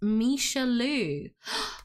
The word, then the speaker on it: Michelle Lou: It's pronounced Misha Louu. Ah, it's a mashup of Michelle Louise.